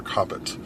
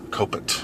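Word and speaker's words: Kopit: by maury esten and arthur coppet copet however you want to say that both ways but coped i believe is the more the more traditional pronunciation this is being uh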